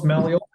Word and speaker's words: Malil: Did I pronounce that correctly? Pretty close, Malio. Malil.